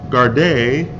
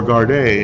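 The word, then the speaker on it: gardaí: in Dublin Ireland asked officers guard a or guard a as they're pronounced across the country to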